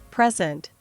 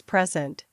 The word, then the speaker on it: present: for meaning or emphasis present noun versus present verb this is a lovely present I will present the findings tomorrow record noun versus